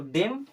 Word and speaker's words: DEMO: DEMO, last में ओ आया तो डेम और ओ तो क्या हो जाएगा? डेमो। क्या हो जाएगा? डेमो। कहीं भी अगर लास्ट में ओ आ रहा है तो हमेशा उसका प्रोनाउंसिएशन करिए ओ की तरह।